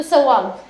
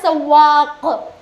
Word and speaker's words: सवाक: लग रही है, तो सवाग, सवाग। वैसे वर्ड क्या है, सवाक, लिखा वो काफ के साथ जाएगा, बट जब आपके सामने कोई प्रोनाउंस कर रहा होगा तो सवाग होगा। एक और चीज़ है, एक